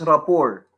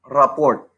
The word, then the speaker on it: rapport: is about establishing rapport take note the word is pronounced as report not report what is report that